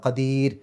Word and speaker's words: قدير: ഷെയ്ഇൻ ഖദീർ അവസാനത്തെ റാഇന് സുക്കൂനിട്ടിട്ട് നിർത്തുക. അപ്പോൾ അവിടെ രി എന്നുള്ള ഉച്ചാരണം കൊടുക്കുക. ഖദീർ.